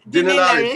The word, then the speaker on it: Dinelaris: Pronounce his second name, please. Dinelaris.